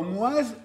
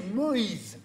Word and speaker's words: Moïse: On dit pas Moise, on dit Moïse.